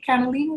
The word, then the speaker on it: cannellini: Cannellini is how you say it.